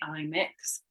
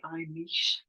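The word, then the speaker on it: Imix: So back to today, and today's cards, we have the I mix. So again, I think that's the wrong pronunciation actually. I think it should be I niche.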